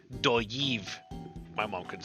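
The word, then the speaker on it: Dolliv: This is double L again, so this would be doyiv.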